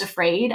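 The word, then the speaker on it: AFRAD: And I'm like, that's perfect because it's pronounced afraid.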